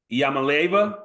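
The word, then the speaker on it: Iamaleava: So this year they've got Nico Yamaleva.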